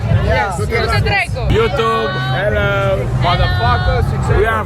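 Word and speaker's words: Du-te dracu: Du-te drecu. Du-te Du-te drecu. Du-te drecu. Du-te drecu, așa. Du-te drecu. Go to hell. Go to hell. Am I saying it right? Yes. Du-te drecu.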